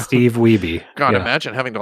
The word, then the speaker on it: Wiebe: you know Michael Weib, is that how you say his name? What? The guy who was trying to fight Billy Mitchell for the Donkey Kong? Yes. Oh, Steve Wiebe? Yeah, Steve Wiebe.